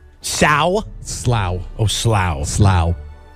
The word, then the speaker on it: Slough: Slough. It's spelled like American, we would say it's Slough, but it's Slough over there.